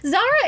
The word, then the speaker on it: Zara: So if you've ever been shopping at the mall, and there's a certain store that starts with it rhymes with Sarah. Honestly, you can just say it. Okay, Zara is terrible.